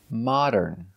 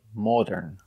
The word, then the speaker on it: modern: right we cannot say modern Mo it's not the long o Mo it's the short o ah like hot and stop ah ma modern